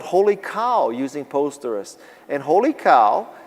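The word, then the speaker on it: Holy Kaw: cow is k-a-w and the reason why it's k-a-w is because holy c-o-w was taken but my name is kawasaki and so i thought that's funny i'll make it holy k-a-w and it'll be pronounced holy cow but lots of people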